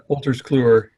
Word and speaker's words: Wolters Kluwer: dog also for the Walters forward separates it's pronounced yeah Wolters Kluwer it's a big Dutch company lots of different